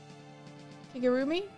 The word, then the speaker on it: Kigurumi: Kigurumi?